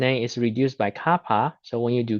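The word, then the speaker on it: kappa: this Kaa here looks like K but it pronounced as Kaa now is called the dialectric constant of the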